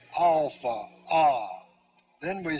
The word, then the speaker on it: alpha: this is the pronunciation in fact the first sound you make in saying alpha is the phonetic value of it so we say alpha ah then we say